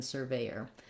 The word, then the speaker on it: surveyor: a SIR, as in surveyor. So if I'm looking at surveyor, 3 syllables with the A, surveyor, versus severe, no R in the first syllable and the ear diphthong at the end.